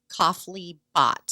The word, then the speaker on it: Kafle Bhatt: in view of it MTA cofle bot is how I've heard her name pronounced and they just um